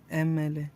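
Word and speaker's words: MLA: हां एमएलए है इसको हम लोग कैसे कैसे प्रोनाउंस करते हैं हम लोग इसको बोलते हैं एमएलए जैसे क्या होगा एम एल एम एल एम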